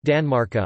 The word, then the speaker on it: tanmarkar: Danmark on the large stone, and genitive Tanmarkar, pronounced Danmarka on the small stone.